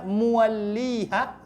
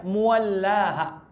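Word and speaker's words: مُوَلِّيهَا: Kata-kata muwalliha di sini ada dua cara membacanya. Yang pertama boleh dibaca muwalliha seperti di sini, ya. Walikulli wijhatun huwa muwalliha. Ini boleh dibaca begitu. Kemudian boleh juga dibaca muwallaha. Jadi kalau ada misalnya Anda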